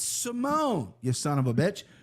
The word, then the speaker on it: Simone: Ricky Simone. Don't say Simon, okay? It's Simone, you son of a bitch.